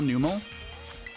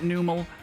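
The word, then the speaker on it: Numel: average the num Pokémon yet people pronounce it num I always pronounce it numl it's my fault um I I thought that was the way to pronounce it when I I was a kid and so it's the way that I pronounce it now as a as a as an adult Ryan I know I know all grown up but still saying the wrong stuff still saying the wrong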